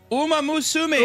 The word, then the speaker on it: Uma Musume: How do you pronounce this? Uma Musume.